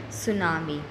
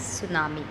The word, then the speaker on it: tsunami: Today we will learn another natural disaster, tsunami. Here T is silent, okay? So we will call this as tsunami.